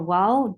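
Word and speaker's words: و: Wow has a articulation point of only the lips has to be circled. Only the lips has to be circled to pronounce wow.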